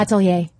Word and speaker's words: atelier: How do you pronounce it? Atelier.